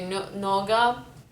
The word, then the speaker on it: nougat: so i say koison and nougat we say noga and by the way